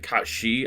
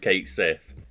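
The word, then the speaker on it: Cait Sith: know the actual pronunciation but in gay that's pronounced something like Kat shei I think they say curiosity killed the cat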